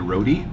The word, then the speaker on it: roti: My friends used to love it when I called it the roti. Oh boy. It's a roti, but you have to pronounce the T.